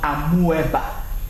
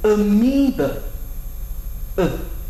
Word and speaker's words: amoeba: The word is amoeba. Amoeba. amoeba and not amoeba.